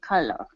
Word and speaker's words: collar: leash back onto his collar. Okay. All right, let's try that last word. That last word is going to be pronounced exactly like someone who calls you. And that is caller.